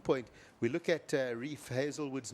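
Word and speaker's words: Heazlewood: we look at Reef hazelwood's name and and you'd almost want to pronounce it heilwood a lot of people do it's pronounced Hazelwood and then of course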